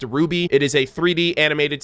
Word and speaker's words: RWBY: now is one uh rwby pronounced ruby it is a 3d